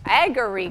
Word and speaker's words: Agorique: What's the pronunciation? Agorique. Agorique. Okay, I wasn't even close.